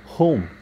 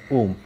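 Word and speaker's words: whom: যদিও কিছু ব্যতিক্রম আছে, আই মিন ডাব্লিউ এইচ এর উচ্চারণের ক্ষেত্রে কিছু ব্যতিক্রম আছে, যেমন ডাব্লিউ এইচ ও উচ্চারণটা সেই ক্ষেত্রে হু হবে, আবার উ এটা হবে না, মনে রাখতে হবে।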